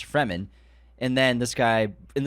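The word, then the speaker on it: Fremen: yeah I remember that he's like no it's pronounced Freeman I'm and then when the movie came out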